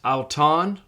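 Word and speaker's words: αὐτόν: It's auton. The alpha upsilon is pronounced ow.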